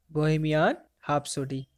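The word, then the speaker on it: Bohemian Rhapsody: बोहेमियन हैप्सोडी, आर is silent here, okay?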